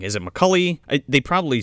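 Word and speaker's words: Mulcahy: was like is it mccully they probably say it some like similarly but it's like a gaelic last name mulcalchi is how the s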